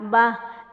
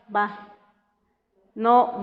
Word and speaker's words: va: Ra, va. Cuando decimos va, antes de terminarlo, se abren las fosas nasales. Va. No van, no se pronuncia mucho la N como tal, pero sí se abren las fosas nasales.